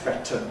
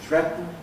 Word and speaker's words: threaten: Schwa n gives you syllabic n, threaten gives you threaten, whistle gives you whistle,